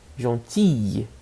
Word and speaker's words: gentille: Gentille. I. Gentille. É como se fosse 3 Is. Né? Gentille. Gentille. Tá? Gentil. Gentille. Mesma pronúncia.